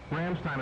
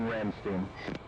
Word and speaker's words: Ramstein: Copy, diverting Ramstein. Dude, I'm pretty sure it's pronounced Ramstein. What? Everybody when I've heard calls it Ramstein.